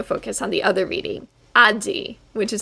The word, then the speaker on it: 味: are going to focus on the other reading aji which is how we just read this kanji